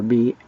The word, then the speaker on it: Bisayan: And then There's Bisayan, which is V or B-I-S-A-Y-A-N, Bisayan. They spell it with either of those letters.